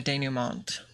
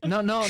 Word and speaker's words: denouement: Dude, it's a French word. It's pronounced denouement.